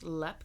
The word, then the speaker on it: Leap: to tell you about LEP castle and it's spelled leap like l e a p I think I've heard